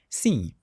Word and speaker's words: sim: So it's a nasal sound.